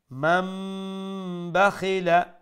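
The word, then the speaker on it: مَن بَخِلَ: So from man it will become mum, and it will be pronounced with nasal sound, meaning gunna. So it will turn into mam bakhila, mam bakhila, wastaghna, and was seen.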